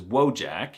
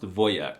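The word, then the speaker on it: wojak: They can be manly, like the word for soldier in Polish, which is wjack. I'm not even kidding. The wjac meme and the word are Polish, but it's actually pronounced voyak, which is the most alpha Slavic masculine thing I've heard.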